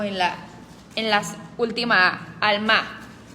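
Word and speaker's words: עלמה: palabra hebrea es alma al mar no alma alma porque se pronuncia como con un acento en la en las últimas al mar Como alma en español pero con un acento al final al mar Ok Esa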